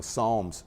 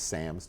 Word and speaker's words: Psalms: Nicki Minaj I don't know because she she can't even pronounce the the, you know, Psalms correctly. She says her favorite Bible verse is Sams 23 and I'm like, okay, but it's not just her accent.